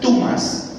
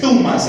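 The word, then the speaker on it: θυμός: No es tumas, es thumas. Hay que sacar la lengua.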